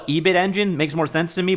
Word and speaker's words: Ebitengine: about is the uh they say AB10. AB10en. I call it Ebit Engine.